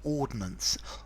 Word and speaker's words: ordnance: okay and these are ordinance ordinances ordinances three syllables now ordinance two syllables no I in the middle talks about military equipment